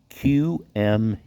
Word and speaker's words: Qmee: other phone is very slow today all right it's spelled q-m-e-e Q me paid surveys okay now this is